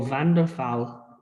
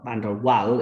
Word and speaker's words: van der Waals: name so they're named after somebody they call van der phal spelled with a hate the w not aviv and the val or van der waal if you like to try and pronounce uh